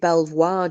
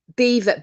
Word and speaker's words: Belvoir: they call that belt you don't pronounce it Belvoir do you is it beaver beaver isn't it Beaver Farm no it's